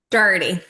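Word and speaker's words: Doherty: Is it remind me Dockerty or Dherty? Dockerty, right? Dherty.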